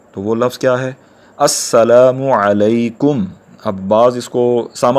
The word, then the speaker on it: السلام علیکم: کو حاصل کر سکیں۔ تو اصل تلفظ کیا ہے؟ السلام علیکم، السلام علیکم۔ تو ہم سب کو